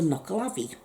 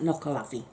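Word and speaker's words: Nuckelavee: way it will kill you so that's the knuckle avi and it's u c k e l a v e e that's how you spell that knuckle lavi and um oh yes and the only way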